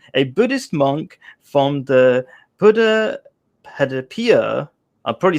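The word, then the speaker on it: Buddhapadipa: you go um a buddhist monk from the buddha hadipia i probably said it wrong he was just teaching me how to say properly buddha padipa temple in wimbledon in london england i probably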